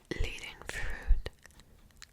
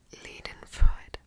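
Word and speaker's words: Leidenfreude: Leading fruit. Leading Freud. That's the right way to say it anyway.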